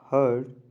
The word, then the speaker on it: heard: this now beware of heard a dreadful word so you can see that looks like a beard and sounds like bird so that herd and